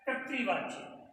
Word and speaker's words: कर्तृवाच्य: यहाँ पर जो ऊपर ये लगा हुआ है ये आधार है, ये आधार है तो ये क के बाद इसका उच्चारण होगा। फिर हमने क के नीचे ये री की मात्रा लगाई हुई है, इसका उच्चारण त के बाद में होगा, इसलिए हमने इसका उच्चारण किया कर्तृवाच्य, क्योंकि र का उच्चारण क से पहले और क के बाद में होगा। तो इसका सही उच्चारण हुआ कर्तृवाच्य।